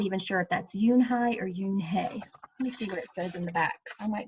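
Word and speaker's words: Unhei: Kim then turned to Joey she nodded slowly yes it's pronounced Yoon I'm not even sure if that's Eun Hye or Yoon hae I might be saying it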